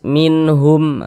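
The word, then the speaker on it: مِنْهُمْ: itu silakan saudara hafal nunnya kita baca jelas minhum begitu kemudian dia tidak didengungkan pendek saja minhum jangan jangan dibaca minhum jangan dipanjangkan seperti itu jangan salah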